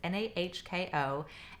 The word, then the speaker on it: Nahko: And the band, and I'm gonna pronounce his name wrong, it's either Nahko or Nahko. It's Nahko, and Medicine for All People.